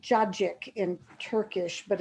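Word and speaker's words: cacık: c is it's got is pronounced with a j so they so call it judgic which is basically satsiki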